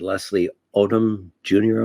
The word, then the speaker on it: Leslie Odom Jr.: I don't see that many films anymore, but Leslie Odom Jr., am I pronouncing his name correctly?